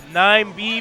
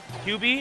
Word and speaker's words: 9B: pronounced QB, by the way. I don't know why everyone is still calling him 9B.